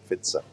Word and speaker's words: Pfizer: I had the Pfizer vaccine. That's how the Germans pronounce it, Pfizer.